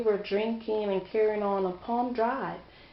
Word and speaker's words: Palm Drive: He said that, oh, I met her, we were drinking and carrying on Palm Drive. Pond Drive, P-O-N-D is how he pronounces it. But it's Palm, P-A-L-M Drive.